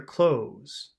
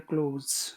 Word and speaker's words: clothes: their clothes okay Muhammad don't try to pronounce the th in that word it's just close like close the door it's it sounds exactly